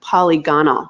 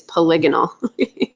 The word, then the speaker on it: polygonal: that Autodesk put out it calls that polygonal which is not a word I'm just gonna tell you it's not how you say it's polygonal every time I hear